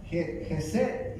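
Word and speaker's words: חסד: La palabra misericordia en hebreo, ¿verdad? Se pronuncia Gesed y significa favor, fidelidad, gloria, gracia, piedad.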